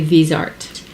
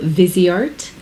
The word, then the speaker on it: Viseart: I say Viseart, but I believe it's called Viseart, and it's a brand that's actually in California.